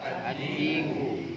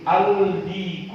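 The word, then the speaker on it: الديك: Ad-diku. Al-diku atau ad-diku? Ad-diku. Ad-diku. Syamsiyah.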